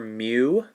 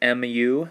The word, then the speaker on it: mu: use this greek letter mu so it's like m u is how we pronounce it or like a cow like mu but it looks like